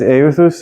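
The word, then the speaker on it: εὐθύς: Yeah, it's euthus or euthus if you want to.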